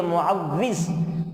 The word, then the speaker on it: معوذ: بچوں کو پکارا کریں۔ اور معوذ یہ کئی لوگوں کو لینا نہیں آتا ہے، اصل ہے یہ معوذ، معوذ واو کی تشدید کے ساتھ ہے،